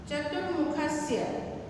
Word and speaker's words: चतुर्मुखस्य: चतुर्मुखस्य, ऊपर में रेप जो है वो र पढ़ते हैं उसको, चतुर्मुखस्य।